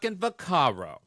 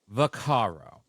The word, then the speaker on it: Vaccaro: Brenda varo can I I'm G to say what everyone should be saying how you should say her name this is how you should say her name Brenda vakaro Brenda vakaro oh my what did